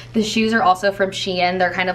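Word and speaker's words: Shein: ivory moment here so the sweater is from sheen you can say it correctly now that someone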